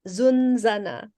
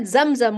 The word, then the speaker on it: zunzana: can your friend um Maria says it's zanzan oh apologies which is also the onomatopic description of the buzzing of the WASP zunzana I apologies for any mispronunciation on my part I said zamzam which is the Arabic word for like holy water so again crosswires Karen Alcala